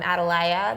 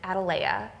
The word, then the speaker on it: Atalaya: the Watchtower um and if you're like me and you always have pronounced it adala I forgive you because I had to be corrected I've always said it like this and then I watched